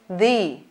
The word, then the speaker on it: the: two different ways here the first one is spoken as thee why because it is followed by a word beginning with a vowel sound whenever the is followed by a word beginning with the vowel sound you will pronounce it as the and in case it is a consonant sound you will precede it with the sound the so it will be